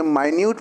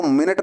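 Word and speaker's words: minute: However, हालांकि, after tasting a माइन्यूट portion of द, इसको मिनट ना बोलकर दोस्तों माइन्यूट बोलना, छोटा, इसका प्रोनाउंसिएशन क्या होगा, माइन्यूट।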